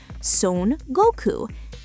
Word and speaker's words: Son Goku: The Chinese name for the Monkey King is Sun Wukong. The Japanese reading, the Japanese pronunciation of those exact same three kanji characters is Son Goku.